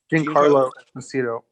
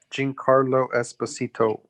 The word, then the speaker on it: Giancarlo Esposito: I'm getting his name wrong. Who? You got it. Giancarlo Esposito. Giancarlo? Mhm. Say his name again one more time. Giancarlo Esposito.